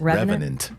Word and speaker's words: Revenant: Revenant.